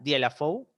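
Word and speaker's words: Dieulafoy: y en di lafou Ya di laf se escribe pero la di lafou que fue una pregunta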